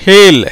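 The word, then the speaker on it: hale: அடுத்த ஒரு உதாரணம், ஹேல், ஹேல், ஹெச்ஏ ஹே, இதில் அந்த இடத்துல ஹே ஏவா வருது இல்லையா, ஹே எல் ஹேல், ஈக்கு உச்சரிப்பு கிடையாது, அப்போ ஹேல், ஹே எல், ஏன்னா ஈச்சி உச்சரிப்பு கிடையாது, உயிர் மெய் எழுத்து, ஈக்கு உச்சரிப்பு இல்லாதனால அது மெய்யெழுத்தாக வந்திருக்கிறது, எல் ஹேல்.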